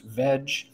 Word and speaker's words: veg: It is pronounced Veg, so you can't just put an S there.